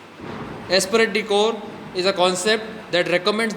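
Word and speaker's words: esprit de corps: And then is aspirate decor. It is a concept. Aspirate decor. The P is silent here. Aspirate decor is a concept that recommends that all employees should work in unity with one another.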